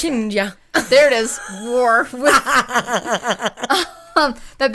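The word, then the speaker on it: Chioggia: They don't pronounce G's, so They don't pronounce G's. They don't really. Chiggia. How would you pronounce it? Chinja.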